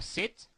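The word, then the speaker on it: cet: or or that uh say can be pronounced you will hear some people say say or set or set well feel free to use either one okay so use set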